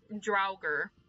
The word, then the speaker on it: Draugr: How do you pronounce that? Draugr.